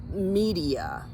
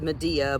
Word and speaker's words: media: canescens, Amanita media, and it may be pronounced Medea, but I have enough experience with classical literature that I'm not calling this Amanita Medea.